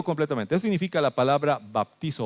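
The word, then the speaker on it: βαπτίζω: Pero eso significa en nuestro idioma baptizo, así se pronunciaría, baptizo.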